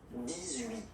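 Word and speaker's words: dix-huit: 17, 17, okay, then 18. So you will make this little link between the two, the liaison, 18, 18, 18, okay?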